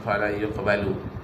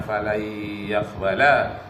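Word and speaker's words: فلن يقبل: Kenapa bukan fala yuqbalu? Bacanya fala yaqbala. Karena lannya di situ adalah huruf nasab yang memberikan baris di atas fi'il mudhari'.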